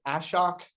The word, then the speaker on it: Ashok: Yeah, Joyce, is it pronounced Ashok, Mr. Is that correct? Yes, you are perfect. Thank you, Ashok.